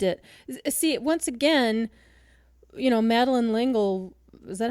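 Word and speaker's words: L'Engle: See, once again, Madeline Lingle, is that how you say her name?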